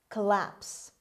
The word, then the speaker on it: collapse: number 10 collapse collapse collapse the first o is pronounced as schwa the stress is on l on the second syllable collapse means a breakdown